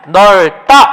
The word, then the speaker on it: 넓다: 발음해 보면 넓다 이렇게 되죠. 리을 비읍이 리을이 되는 거 이거 같은 경우가 일반적인 발음이었다.